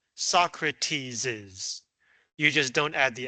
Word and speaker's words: Socrates': You still pronounce it Mars's, Socrates's.